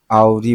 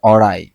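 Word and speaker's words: awry: হয়েন হি এরাইভ আরলি আওরি বলে ফেলছি আমি আবারো এটা হবে অরাই অরাই মানে বিপদগামী সারপ্রাইস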